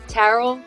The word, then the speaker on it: Taral: me today I have tarl am I pronouncing your name correctly yes okay tarl marketing